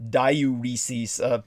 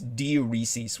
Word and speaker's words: diuresis: It's not diuresis, because people confuse that with diarrhea or something that causes diarrhea like a laxative. It's diuresis, which means it makes one urinate, and it rids all of that excess.